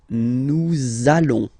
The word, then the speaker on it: nous allons: link between the words, so it does mean that you will have to pronounce this z sound, okay, listen to me, nous allons, nous allons.